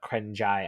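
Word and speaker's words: เกรงใจ: And Sheldon says the last piece is actually called the krengjai in Thai Krengjai. culture. How do you pronounce it?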